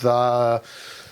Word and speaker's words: Fidau: He's asked me to pronounce it Fidau. Okay. I'll let you have that. He sent a message in, he rang the phone earlier tonight and said, please pronounce it like that.